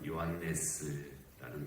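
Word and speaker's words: Ἰωάννης: 그의 이름이 요한이라, 헬라어 발음으로는 요한네스라는 발음인데, 요한네스를 좀 축약해서 요한, 거의 비슷하게 헬라어를 표현해낸 그런 발음이죠.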